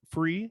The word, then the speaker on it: FURE: like to pronounce it and with the u silent so i looked at